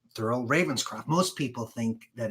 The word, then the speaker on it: Thurl Ravenscroft: just in case you're interested looks like this Thurl Ravenscroft he's the voice of the who stole Christmas you're a mean one mr.